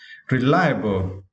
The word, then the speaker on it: reliable: And next word, for this word, you need to stress the second syllable, lime, okay? Reliable.